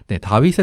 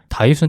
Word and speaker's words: 다윗: 번째 왕이 바로 다윗입니다 실제로 고대 히브리 저는 다비드라고 읽는게 맞대요 그리고 현대 히브리어로는 다비드라고 읽는다고 해요 근데 이제 우리나라에는 다윗이라는 이름을 따와 가지고 음역으로 그냥 다윗 이렇게 얘기한다고 하더라고요네 기본적으로는 이제